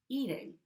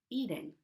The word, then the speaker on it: eating: The flapped T sound in American English sounds like a very quick D sound. So for example, listen to my pronunciation of the T in the word eating.